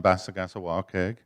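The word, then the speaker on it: Passagassawakeag: So across the bay, Belfast, Bassagassawakeg, everybody argues about how to pronounce it. I am the authority. It's on Bassagassawakeg.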